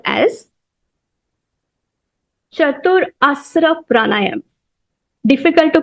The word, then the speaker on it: Chaturasra: Part number 3 is called as Chatur Asra Pranayam. Difficult to pronounce.